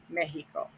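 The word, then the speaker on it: México: which are mexico mexico accent on the e the x is pronounced like a j mexico okay then of course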